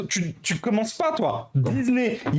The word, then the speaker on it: Disney: tu commences pas toi Disney il y a un S et après il y a qu'un seul s donc un seul s ça se prononce avec un Z c'est comme WhatsApp WhatsApp c'est WhatsApp et